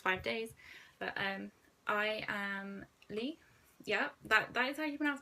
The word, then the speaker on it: Leigh: for the past five days but i am lee yeah but i keep enough money by the way like I think ninety percent of my family thinks think it's pronounced leh but it's really not Lee Lee underscore and